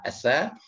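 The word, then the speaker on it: ث: Asa itu cara pengucapannya ini agak sedikit berbeda dengan huruf Latin. Asa, ujung lidah menempel pada gigi seri depan yang atas.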